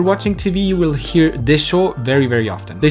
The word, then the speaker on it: でしょう: Now the difference between this desho and the desho from before is the intonation. If you look at the pronunciation, it is slightly different than the one before. The desho that can roughly translate to right would also go up in intonation.